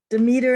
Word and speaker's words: Demeter: heard it also pronounced demeter but apparently it can be pronounced either way so this is um